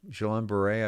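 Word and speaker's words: Guillain-Barré: people who get Johnson and Johnson um the jab are at elevated risk of uh gileon jalan beret jalon beret I believe is the way you pronounce this um and it's basically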